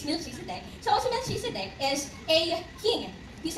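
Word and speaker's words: Melchizedek: So Milch Ciscitech daw po yung pronunciation. Siguro ba depende siya sa school kung saan kanal pero technically it's Mil Cisicidec.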